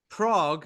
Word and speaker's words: Prague: of trivia for you Prague is one of the five monosyllabic capitals of the world so it's only got one syllable in its in its name and there to say